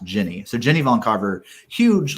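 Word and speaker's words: Gini: uh jenny her name her name is spelled g-i-n-i and it's pronounced jenny so jenny von carver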